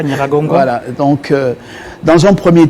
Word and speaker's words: Nyiragongo: Nous parlons principalement de ce qui était arrivé à Goma, l'éruption du volcan Nyiragongo. Oui. Je ne sais pas si j'ai bien prononcé. Oui, c'est ça, Nyiragongo.